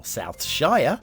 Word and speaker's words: Southshire: Today's map is Southshire, or Southshire if you are from America. we don't pronounce it as Shire. Sure.